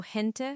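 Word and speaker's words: gente: But when it's followed by e or i, it transforms. It becomes a guttural sound almost like clearing your throat. So, hent for people or heant for giant, which brings us perfectly to the letter J.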